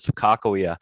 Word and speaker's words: Sakakawea: Sacagawea is how you commonly hear her name pronounced, but amongst the people in that region, they also pronounce it Sakakawea.